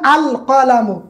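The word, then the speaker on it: القلم: যেমন আল কলামু, এখানে কফ আছে, কফ আসার কারণে লাম আসছে।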